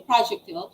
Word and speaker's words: projectile: so net projectile so we usually heard it as projector but it's actually projectile it's known as all